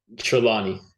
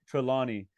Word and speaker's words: Trelawny: were you like a bookish kid were you treilani is how you pronounce the name the main character from The Collection trelawny trelawny yeah I mean do you have some chilani